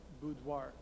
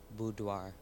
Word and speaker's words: boudoir: from a French word are there any other pronunciations you could also say boudoir boudoir be oh you d oh I are dois